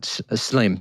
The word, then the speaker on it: Shlaim: Ami Schlein, is that how you pronounce it? Yeah, a Ivrit in Hebrew. I think that's how you'd pronounce it. Shleim, yeah.